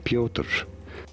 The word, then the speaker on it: Pyotr: up okay let's see announcing it in russian it is said as pyotr pyotr that's how you say it pyotr aven that's